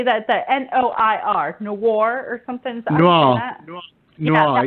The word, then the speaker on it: noir: I failed French at school, but I still know it's pronounced noir.